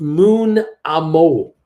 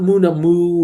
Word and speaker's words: Moonamo: It is pronounced Moonamo. Moonamo, DQ said. That's how you say that guy. Not Moonamoo or Moonman Mo, man.